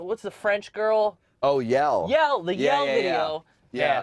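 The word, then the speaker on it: Yelle: Oh, Yell.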